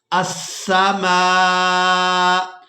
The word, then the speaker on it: السماء: سے ہجے کریں گے، حمزہ سین زبر اس، سین زبر سا، اس، میم الف مد زبر ما، السماء، حمزہ پیش او، السماء۔ وقف کی صورت میں